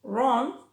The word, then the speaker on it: wrong: También pasa cuando va seguida de R, como right o wrong.